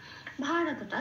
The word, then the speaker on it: ভারত: পেলাম স এটা উচ্চারণটা ভারতটা যেমন আছে তেমন শুধু মনে রাখতে হবে কোন ভসন্ত নেই রত পূর্ণরূপে মানে রত পূর্ণভাবে বলে উচ্চারণ করতে হবে ভারত এটা তাহলে পেলাম